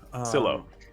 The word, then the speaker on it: Psilo: Psilo? Psilo. Yeah. I gotta do a pronunciation guide here. Oh, it's short for psilocybin. Because I pronounce it psilocybin though.